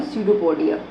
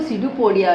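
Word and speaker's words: pseudopodia: सीडोपोडिया। P silent होता है।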